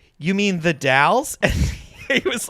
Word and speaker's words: The Dalles: dallas oregon and i was like you mean the dalles and he was like oh thanks for correcting me on the correct pronunciation of your shitty town there is a